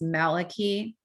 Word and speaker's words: Malachi: point out right now malachi martin always said that his name was actually pronounced maliki um and so he was always correcting people for that but then later on